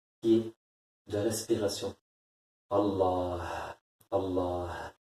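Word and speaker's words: الله: Allah, Allah. Le h à la fin. Le ha à la fin du nom de Dieu. Allah. C'est ce h. C'est ce ha.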